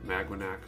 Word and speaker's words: Maganac: Magwanac, something like that is how it's supposed to be pronounced, but I've always pronounced it Maganac.